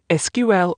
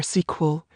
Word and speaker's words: SQL: However, the original pronunciation SQL or sequel continued to be used.